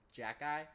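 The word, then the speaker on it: Xhekaj: to pronounce it um I thought it was pronounced like like hockey with a J but it's Jack guy all right sweet I'm a jack guy I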